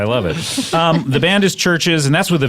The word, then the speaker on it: CHVRCHES: I know it's pronounced churches.